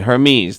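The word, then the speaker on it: Hermès: okay her Gina said Hermes the HSI the ER does not sound like her it sounds a little like air so it's air and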